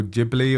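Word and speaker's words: Ghibli: Yeah, it reminds me a little bit when we spoke about the studio Jibli or is how do you say Jibli with a J, Right. Like a sounds like a J that whole discussion if you guys listen to that episode in the past.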